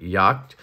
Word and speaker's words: Jagt: is the giant mouse and I'm German so I know that that J is silent yed and that means hunted